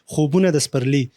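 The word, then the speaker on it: خوبونه د پسرلي: है इसका पश्तो में सॉरी आपने थोड़ा सा सही तरीके से प्रोनाउंस नहीं किया खबन दस् परली खबन दस् परली मींस ड्रीम्स ऑफ स्प्रिंग सो यह स्टोरी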